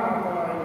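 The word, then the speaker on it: مَطْلَع: Matla' lamnya itu matla'i, la itu bifathil lam, di fathah lamnya. Tapi ada juga yang membacanya mukasrah atau mukasrahnya.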